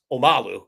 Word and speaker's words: Omalu: Uh, and then the next line is um, the way Bill says it is Um, but we know it's Omalu is the way you pronounce it.